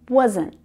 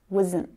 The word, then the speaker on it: wasn't: Was not becomes wasn't. Wasn't. And this is often unstressed in our sentences. So the sound really flattens out and it becomes a lot more like wasn't, wasn't, wasn't.